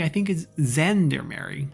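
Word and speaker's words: gendarmerie: arm and it's not gander mary i think is zendermary like a zh sound which is a very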